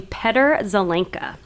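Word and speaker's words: Petr Zelenka: were talking about yeah he pronounces his name Peter zelinka uh he is a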